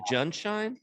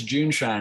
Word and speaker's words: JuneShine: champagne of kombucha's so is it john shine am i pronouncing it no it's it's june shine and we were going